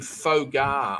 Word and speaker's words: pho: Just before we go, you have as your name Fogar, I think it is. It Fogar, or how do you pronounce that?